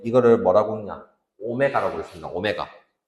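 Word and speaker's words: ω: 오메가. 이거를 W 아니고 뭐라고 읽는다? 오메가라고.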